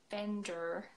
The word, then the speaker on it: vendor: Vendor. Yeah, vendor. It's so strong, isn't it? We would say vendor, so we wouldn't pronounce that R.